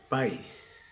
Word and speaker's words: país: Si yo dijera país, sería un solo golpe de voz, como el caso del diptongo. Pero es un hiato, ruptura.